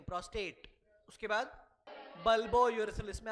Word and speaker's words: prostate: Book में देख लो spelling, book में देखो, what is that, प्रोस्टेट, प्रोस्ट्रेट नहीं होगा, that are should not have been there, वो स्पेलिंग एरर है।